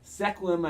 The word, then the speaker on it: Sequim: Sequim, I think it's pronounced Washington.